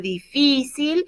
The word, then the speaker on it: difícil: Maybe that'll help you remember where to put your accent on difícil and how to pronounce it correctly.